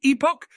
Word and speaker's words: epoch: Now, how is this word pronounced? Epoch?